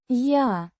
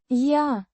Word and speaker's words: Я: Я. The pronoun I. or Am. pronounced Я. like the ya in yard, but with a slightly softer a sound.